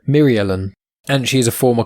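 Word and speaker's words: Mirialan: doctor ustasia occur now eustacia occur is a myrialen now um it's hard to pronounce m-i-r-i-a-l-a-n myrialen myriellen and she is a former classmate of doctor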